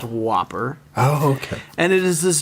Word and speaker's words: WOPR: what there is no eats wopr it's pronounced whopper okay and it is